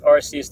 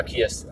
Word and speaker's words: Arceus: Expect Arceus to be a mythical. And, or Arceus, however you want to pronounce it.